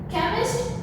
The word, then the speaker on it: chemist: Now you can see over here, here CH is there but the sound is k. It's not chemist but it pronounced it as chemist. Chemist, shop, shop.